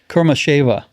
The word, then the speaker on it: Kurmasheva: Alsu, I always pronounce her name wrong. It's Kurmasheva.